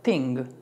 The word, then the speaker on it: think: Esta palabra no es thing, porque si dices think es cosa. Cuando decimos many things, muchas cosas, esta es think. Think. El sonido th para nosotros los hispanos es muy difícil porque es así como sopladito.